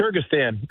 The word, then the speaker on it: Kyrgyzstan: Uh, you were the commander at the Manis air base in it, pronounced the country name, Kyrgyzstan. Is that correct? Kyrgyzstan.